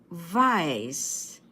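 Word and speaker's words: weiß: you say Vice and remember W in German is pronounced as v as in Victory let's have the adjectives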